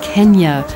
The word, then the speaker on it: Kenya: anything nowadays in fact the correct pronunciation is Kenya according to local Tradition at its capital Nairobi